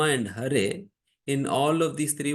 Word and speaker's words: Hare: And that's why these people from China, unable to pronounce it, they improperly pronounce it, saying Hale Lama, Hale Lama.